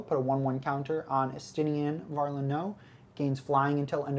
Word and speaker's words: Estinien: Yeah, you want to pronounce our next Dragoon? Our next Dragoon. Yeah, because... is it Horashvilger? It is not Horashvilger. Estinien?